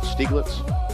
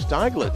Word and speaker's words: Steigler: in your name properly if i pronounced it stieglitz close enough what is it style it's technically steigler yeah it's the first